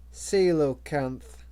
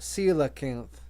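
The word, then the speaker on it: coelacanth: the circanth to rescue the kayaka Marty said pronouncing the name Salo kanth grish shook her head it's pronounced Sila kanth I knew that Marty said his usual response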